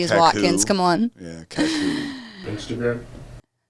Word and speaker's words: Kakuk: Kakuk is how you say it. Kakuk. It's spelled with Kakuk. You would say that like. I always say Kukak, Kukak.